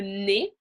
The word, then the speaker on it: nez: comme le riz, rice, et les mots qui se terminent par EZ qu'on prononce E. So words that end in EZ, we generally pronounce E, comme chez, at, chez is at a person's house or office.